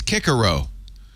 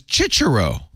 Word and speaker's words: Cicero: in the 70s and right in the middle we were saying Cicero and the my my Latin teacher said oh hey they've decided it's kiaro I am not kidding they changed the pronunciation in the middle and then there's a church way to say it which is chichero so the so Roman